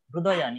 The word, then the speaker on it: हृदयानि: वह यहाँ एक है ऋग्वेद में एक री को रू उच्चारण किया जाता है, रू हृदयानि, इसीलिए बोलना पड़ेगा। ऋग्वेद ये है, और यजुर्वेद में री को रे कहते हैं, ये थोड़ा अलग होता है।